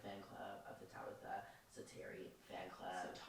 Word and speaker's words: Setari: I'm a part of the fan club of the Tabitha Setari fan club. Setari. You know what? You said it right the first time.